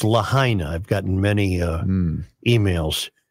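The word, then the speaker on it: Lahaina: been pronouncing lah wrong yeah it's I've been pronouncing it Lena it's lahina I've gotten many uh emails to that uh and and I uh I will now pronounce it correctly lahina was the town destroyed in you also Islands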